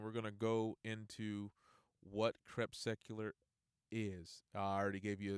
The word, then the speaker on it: crepuscular: You guys can check the link, and we're gonna go into what Crepuscular is.